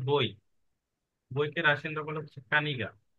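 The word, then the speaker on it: книга: আগে হচ্ছে বই, বইকে রাশিয়ানরা বলে হচ্ছে কানিগা, কে এন ই গে আ। ইংরেজিতে যদি উচ্চারণ করি কে এন ই জি এ, কানিগা, ঠিক আছে।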